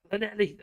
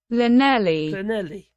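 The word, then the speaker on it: Llanelli: Clanelli.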